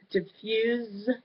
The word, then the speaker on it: diffuse: of speech so the diffuse diffuse like it's a z sound that's the verb form that means to scatter